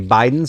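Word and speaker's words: Bidens: So, this first plant that I'm getting is a Biden or Biddens, depends on how you like to pronounce it.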